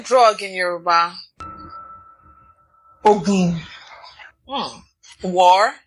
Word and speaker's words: Ogun: This is another one where there's a word that when used in a different tone and a slightly different pronunciation means 5,672 different words. Yes. This one is Ogun.